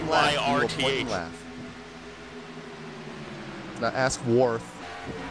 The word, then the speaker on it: Wyrth: Now ask Worth. The Y is a vowel.